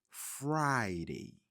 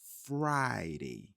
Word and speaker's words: Friday: Friday, Friday. Like fry food, but no food.